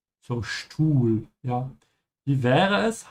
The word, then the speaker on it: Stuhl: Because the s comes before a t. It's pronounced like sch. So Stuhl, ja.